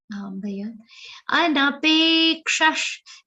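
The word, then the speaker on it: अनपेक्षः: Anapekshash. Now see, pe is a long sound. It will have a very subtle aghat of ka.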